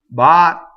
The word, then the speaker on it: battere: So you want a long vowel, you stop phonation, go up to the T and don't say it. Battere.